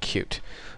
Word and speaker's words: Qt: actually what we're gonna be covering it's called cute it's spelled cutie but it's pronounced cute and when you search Google you'll see a